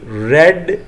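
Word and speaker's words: read: I asked her which class, देखे ना, which class she रेड इन। रेड in spelling बोलने में फ़र्क है, रीड रेड रेड, तो ऐसे होगा which class she रेड इन।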